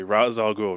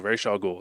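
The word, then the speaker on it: Ra's al Ghul: The demon head um challenges for R for Ra I can never say his name correctly. Razal Ghoul Raw Ghoul. It doesn't matter which one you say.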